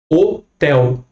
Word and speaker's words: hotel: Hotel. Sílaba tônica aqui no tel. No inglês, hotel.